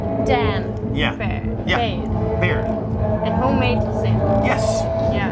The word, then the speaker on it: Baird: Today I have Baird and Homemade Sin. Yes. And how do I pronounce? Do I pronounce it right? Dan. Yeah. Baird. Yeah. Baird.